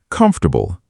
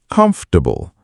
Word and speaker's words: comfortable: The word comfortable. Many people stress this wrong. Comfortable. Three syllables, not four.